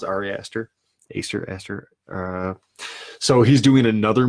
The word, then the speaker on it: Ari Aster: The director, Ari Aster, I believe is how you pronounce it. Ari Aster.